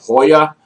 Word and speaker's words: Joya: pronounce it incorrectly i prefer to call it joya to nicaragua because it brings me so much joy and i'm american and j-o-y-a spells joya i mean if you're spanish i can understand hoya but hey man as